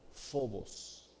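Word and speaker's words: φόβος: correcto pero es parcial la palabra temor en griego literalmente se pronuncia fobos fobos de donde viene la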